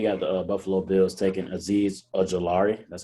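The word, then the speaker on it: Azeez Ojulari: at 30 we got the buffalo bills taking aziz ajilari that's how you say his name yes that's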